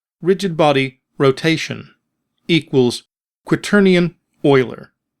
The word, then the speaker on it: Euler: Next, after the code we have written but still in fixed update, write rigid body rotation equals quitterian oiler. And yes, it is pronounced oiler, which is also an X, Y, and zed value.